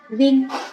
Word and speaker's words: viêm: Khi mà m ở sau cùng thì chúng ta sẽ đọc là viêm.